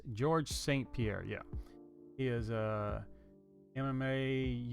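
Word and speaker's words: Georges St-Pierre: Is it St Pierre? Let me double check that because I don't want to say it wrong. Yes, George St Pierre.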